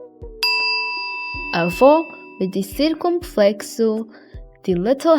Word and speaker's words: avô: Avô with the circumflexo, the little hat, means grandfather.